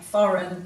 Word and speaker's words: foreign: Our words today are nash, null, align, benign, consign, dane, reign, foreign, campaign and assignment. So in these words the G is silent and it usually comes before an N.